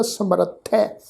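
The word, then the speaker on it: ਸਮਰਥਹ: समर्थ है शब्द है जी, ख्याल रखना। ससा मम्मा रारा थत्था फिर हाहा अखर मुक्ता। हाहा अखर जिहड़ा मुक्ता है वो थत्थे अखर के उपर दुलावां दे पाठ वांग उच्चारण होएगा समर्थ है।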